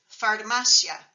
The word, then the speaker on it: farmacia: into two syllables Etc The Only Exception in the chapter is farmacia which has three syllables because it doesn't have an accent mark so it doesn't split the I a into two syllables the chapter has five